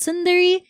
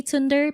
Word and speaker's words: Sunder: name is um my username if you're wondering how to pronounce it is called Sunder and I I honestly at this point do not mind if you call me tunder because it happens um tunder Thunder whatever but yes I am